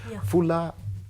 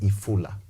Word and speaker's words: ifula: So at the end of the day, as we are building this story about FULA, FULA in a Luya dialect is rain. Rain. But it's supposed to be pronounced as ifula.